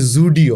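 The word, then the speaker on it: Zudio: tata কোম্পানির একটি জামা কাপড় এরকম দোকান খুব বিখ্যাত হয়ে গেছে যাদেরকে আপনার এই ভিডিওটি পাঠাতে হবে কোম্পানির নাম হচ্ছে জুডিও তবে আমি যে শুধু জেড এর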